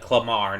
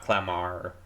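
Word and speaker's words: Clemar: Is it okay so you say it like clamar not clamar okay you think your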